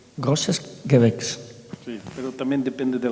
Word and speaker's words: Großes Gewächs: ¿Y cómo se dice en alemán? Großes Gewächs. Großes Gewächs.